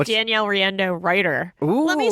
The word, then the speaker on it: Riendeau: page too it's Danielle rendo writer let me spell rendo to make it easy spell r i e n d e Au lots of vowels it's all in there rhymes with Nintendo yeah rhymes with Nintendo